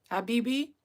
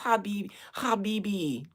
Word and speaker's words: Habibi: Yes, Habibi. I'm gonna be saying that forever. Habibi. I know I said it right because of yes. You hear the guttural throats.